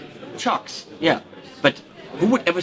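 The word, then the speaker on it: Cioks: to say it's called it's spelled c i o k s but apparent I think I've seen it apparently you say wait CH chocks no chocks yeah but who would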